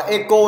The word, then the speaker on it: echo: Đọc là echo chứ không phải là e chó đâu nhá. Chữ h này là âm câm.